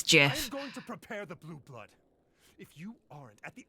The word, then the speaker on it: GIF: world it's an acronym acronyms have their own independent pronunciation from the words they represent GIF is correct yeah yeah how I feel about it but the Creator says it's Jiff if you aren't at